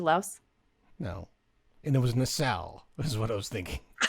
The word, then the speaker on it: Nassau: And it was Nassau, is what I was thinking. Oh, Nassau? Bahamas? Nassau. Okay. Nassau, not NASA.